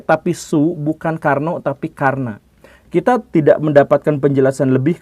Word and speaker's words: Karna: Soe tetapi su dan bukan Karno tetapi Karna dan ini sebenarnya bukan hanya perbedaan kecil dalam aksen Sunda atau Jawa atau perbedaan dalam bahasa baru dengan bahasa lama bukan seperti itu bukan ejaan lama ejaan baru bukan seperti itu tetapi ini memang adalah nama yang sudah disematkan jadi maksudnya sempat di